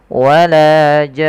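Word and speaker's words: وَلَا جَانٌّ: baru untuk nunnya karena dia ada ghunah sambil ditahan nnya maka wala jan tidak wala jan tapi dia ada n ya wala jan seperti itu.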